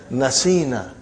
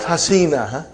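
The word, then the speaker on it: نسينا: You will pronounce as nasina. Not hasina. Nasina.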